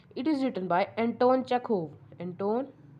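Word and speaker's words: Chekhov: ये जो चैप्टर है proposal, it is written by Anton चेखोव। Anton, you are spelling CHEKOV, चेकोव।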